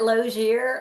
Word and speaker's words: Lozier: Is that Loier? Yeah, I call it loir. Um depends on if you have a little French background or not.